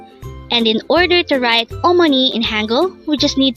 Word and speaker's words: 어머니: Omani or money again our virtue today is Omani it is pronounced as a three-syllable word professional voice oh second